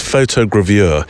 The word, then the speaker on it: photogravure: you about it, is photogravure. It's only taken me a month to get that word right. Up to this moment, I've been pronouncing it as if it's a Swiss cheese.